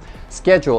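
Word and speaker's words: schedule: дули и на files с кем джулс пчел скетчу это ваше расписание вашей жизни ваши дела то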